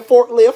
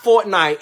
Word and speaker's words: Fortnite: So why was you up late last night playing forklift? Fool, it's pronounced Fortnite.